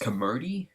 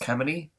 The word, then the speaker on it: Camody: And I had a friend that asked me that thought my channel name was pronounced Camody, but it's not, it's pronounced Camody, just to get that straight.